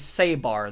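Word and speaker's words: Sébar: And this guy's name, the goat looking guy, his name is Sabbar. That is spelled S E the little accent. B A R. Sabbar. Okay. It's very important that you have this accent.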